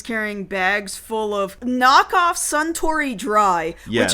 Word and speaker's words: Suntory: He's carrying bags full of knockoff Suntory Dry, yes, which is spelled like sun, like a child, a kid, a boy, sun, and tree, T-R-Y, try, sun, try, sun, try.